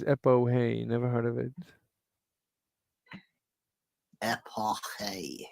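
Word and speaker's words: epoché: EPOCHE with an apostrophe with an accent on the last E.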